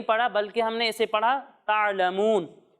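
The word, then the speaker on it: تعلمون: ता आइन ज़बर ता, लाम ज़बर ला, ता'ला, मीम वाव पेश मू, ता'लमू, नून ज़बर ना, ता'लमूना।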